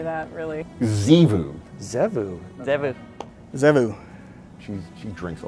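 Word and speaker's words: Txevu: T-X-E-V-U. Zivu. Oh, the T is silent. Yeah, because, I mean, can anyone say that, really? Zivu. Zevu.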